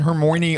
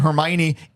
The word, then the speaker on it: Hermione: the movies and I found out Hagrid and hermy are pronounced Hagrid and Hermione it's too late I've